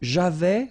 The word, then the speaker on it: j'avais: So j'avais, final S not pronounced.